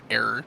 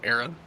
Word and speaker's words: era: it on purpose but you mispronounced it error instead of era and like ah Hey